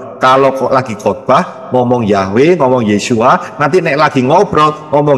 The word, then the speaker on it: Yeshua: Yod Shin Waw Ayin bacanya Yeshua.